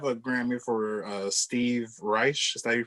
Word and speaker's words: Reich: you already have a grammy for uh steve reich is that you pronounce the last name yeah and my favorite